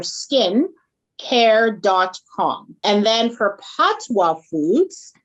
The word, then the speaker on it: Pattoa: So it's Patty without the Y and OA for OA. Yeah, quinoa, the end part of quinoa.